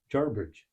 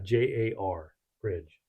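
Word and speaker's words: Jarbidge: r in it so it's jar jbd jar like garbage but only jarbridge right I don't is there an R there is an r in there so it's yeah j a r Bridge jar jarbridge garbage jar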